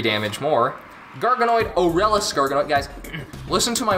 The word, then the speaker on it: Aurelus: Garganoid, Aurelus Garganoid, guys, listen to my words. It's Aurelus. There is no extra I. It's not Aurelius. It is Aurelus.